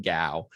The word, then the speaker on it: Gow: So someone asked, repeat my last name is Gow, Gow. Sounds like cow or rhymes with cow, but with a G.